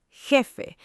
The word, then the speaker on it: jefe: En español, la J es un sonido gutural, fuerte, que viene de la garganta. Garganta es la parte interna del cuello. Jardín, jugar, jefe.